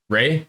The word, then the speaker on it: Rae: It Ray? Alright. It's spelled RAE, but it's pronounced RAY, like Ray.